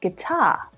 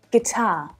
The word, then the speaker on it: guitar: Now let's check out a couple of other examples because it's quite common to see UI in English words, but to only hear the short I sound pronounced, like in circuit, biscuit, guilty, and guitar.